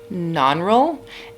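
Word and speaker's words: Nannerl: the sister who i think her name is pronounced non-roll and she actually is older and a really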